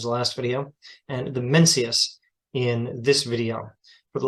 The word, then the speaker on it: Mencius: about the mencius now I think a better pronunciation would be mongsa but I'm sure even that is flawed mencius is a perfectly acceptable English pronunciation of the name as it has been translated into English so mencius mencius is